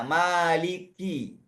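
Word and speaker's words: مالك: Karena sifat hams pada huruf kaf itu bisa disebutkan atau bisa tetap terbaca tanpa khi tapi dengan qi biasa. Maliki.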